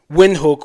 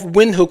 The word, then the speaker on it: Windhoek: wanted me to pronounce Windhoek with a V, Windhoek. So he talks that the email mentions that the pronunciation of Windhoek with a V is not just German, it is Afrikaans.